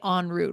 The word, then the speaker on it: en route: En route, but we say en route, right?